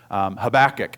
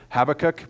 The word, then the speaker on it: Habakkuk: of Habakkuk or Habakkuk, depending on what part of the country you grew up in, will depend on how you pronounce it. I will probably say it both ways because I grew up in Oklahoma, so we said Habakkuk, but I think it probably should be pronounced Habakkuk, but I haven't quite broken my habit of saying it the other way.